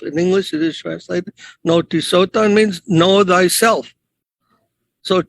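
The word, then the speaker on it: γνῶθι: Noti. That notim is spelled G-N-O-T-H-I. Noti. And that same N-K-N sound is there.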